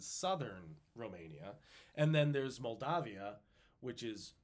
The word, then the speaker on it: Moldavia: it's a regional pronunciation but Moldavia it's good to say Moldavia just so you know there's an A in there instead of an o yeah because that's how